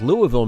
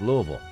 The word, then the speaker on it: Louisville: standup democrats and now bill press talks with Louisville Mayor Greg Fischer I'm the mayor nice to